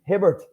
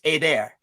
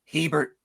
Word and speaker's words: Hebert: your name properly okay if um you're in France Canada or Louisiana it's AAR a that's the actual that's AAR that's the French pronunciation if you're United States it's Waring it's Hebert Hebert Hebert yeah well I don't